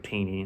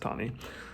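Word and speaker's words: Taney: spelling his last name looks like tini it's actually pronounced tani who himself was a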